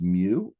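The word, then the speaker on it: μ: So this little symbol here which pronounced mu, math people use that to stand for mean.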